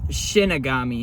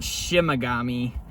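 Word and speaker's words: Shinigami: It's Shinagami, not Shimagami of because uh I I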